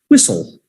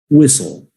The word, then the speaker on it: whistle: we have whistle whistle that t is silent whistle whistle say it with me everybody whistle very good every lifeguard